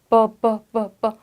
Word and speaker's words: buffet: buffet. buffet. 그 뒤에가 약간 영어스럽지 않고 다르죠. 생긴 거랑도 발음은 다르고 얘가 영어 태생의 단어가 아니라서 그럽니다.